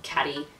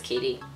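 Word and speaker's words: Caty: Like, you could easily mispronounce that as Catty, but I think it's Katie.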